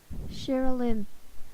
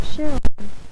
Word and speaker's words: Sherilyn: Sherilyn, not Cheryl, Sherilyn. So I'm gonna pronounce it as like Shara. You could do it like with an Shara, but it's actually Shara. As in, it could sound like Cheryl, but it's actually Shara. Sherilyn, which I thought was kind of unique.